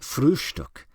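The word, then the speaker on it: Frühstück: the word breakfast but always call it frustuk with a special emphasis on the first syllable by these radical and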